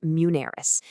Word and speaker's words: Muneris: And if you're looking for that kind of guidance, a great person to talk to is Mansoor at Muneris, and that's pronounced Muneris.